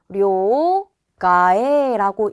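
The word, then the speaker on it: 両替: 카에루가 교체하다 바꾸다라는 뜻인데 이때 루를 빼주고 앞에 있는 카에 타금을 붙여서 료 가에라고 읽는구나를 체크해 주셔야 돼요.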